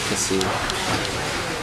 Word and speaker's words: cassis: Probably cassis. S is silent because French.